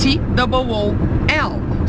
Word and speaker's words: tool: It's T-O-O-L. So how do you pronounce this?